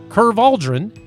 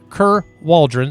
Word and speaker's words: Ker Waldron: did go here and curve Aldrin Kerr Waldron I'm still killing your name I'm gonna say it correctly Kerr Waldron sorry I'm mark